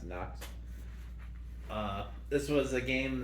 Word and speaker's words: Nox: knox games okay and a n-o-x i pronounced knox uh this was a